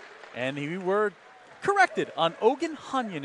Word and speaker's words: Ohandzhanian: he were corrected on ogan hanyan is the correct ukrainian pronunciation is that one's thrown